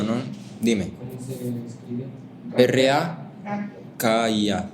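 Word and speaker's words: רקיע: R-A-K-I-A o Q-I-A. Ajá. Así como se escucha rakia.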